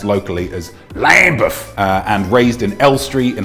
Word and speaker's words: Lambeth: In Lambeth, in London, pronounced locally as Lambeth, and raised in Elstree in Hertfordshire, just outside London.